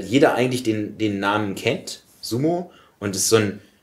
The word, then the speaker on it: Sumo: Und das wäre jetzt sozusagen die exakte Aussprache, wäre langes O hinten. Sumo. Sumo.